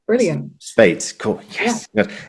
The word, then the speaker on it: Speight: It's like the number eight. Brilliant. Spate.